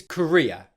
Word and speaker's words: career: The same applies for the first syllable, k. Where it gets more challenging and where it can sound very similar to the first word, career, is with the second part of the word, which is ria.